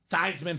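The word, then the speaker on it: Theismann: was the thiemans and he did change the pronunciation of thyman just so we can get the Heisman trophy thyman for the Heisman and plunet said oh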